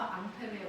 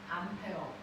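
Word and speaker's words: Ampère: 누구였어 앙페르 앙페르 그래서 앙페르의 오른나사 법칙 앙페르 원래 프랑스 사람이니까 앙페르 아고 하는데 그걸 미국 놈들이 뭐라고 읽었어 암페어 그래서 2암페어 3암페어 그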